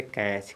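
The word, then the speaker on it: catch: की मात्रा है और ये जो टी है टी का साइलेंट नहीं जो है उच्चारण नहीं होता टी का बीच में अगर जब भी सी एच के पहले टी आ जाएगा तो टी का उच्चारण सी एच के पहले अगर टी आ रहा है तो इस टी का उच्चारण नहीं किया जाता है य टी जो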